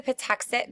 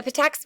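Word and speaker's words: Patuxet: massachusetts blown up so this is the patuxent village or the patux village whatever your teacher says um is pronounced the patex village had ten houses um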